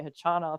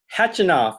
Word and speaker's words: Khachanov: I was like, it's Khachanov. And everyone looked at me, and an umpire was like, no, it's Khachanov. And I'm like, I don't think it's pronounced with a K. They don't have a K.